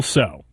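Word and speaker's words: Tso: General So. It's General So's chicken. Huh. So the T is silent.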